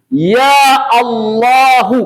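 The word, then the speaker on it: يا الله: dibacanya dengan Bil qat'i tidak boleh dibaca ya Allahu tapi ya Allah Ah sempurna ya Allah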